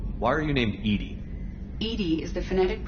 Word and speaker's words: EDI: the medical Bay why are you named Ed Ed is the phonetic pronunciation of Eed that is an acronym for